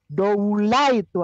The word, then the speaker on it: doula: Doule, doula itu ada. Pelafalannya doulai atau doula.